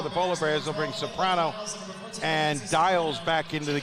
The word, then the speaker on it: Soprano: Soprano. Soprano, okay. Accent on the last syllable.